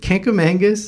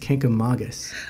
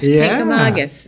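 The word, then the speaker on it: Kancamagus: what the can is oh that's the uh kangamangus Canam Mangus side tangent Canam Mangus is what the locals say but if you actually read it it's supposed to be pronounced kka Magus oh I didn't know that there's no n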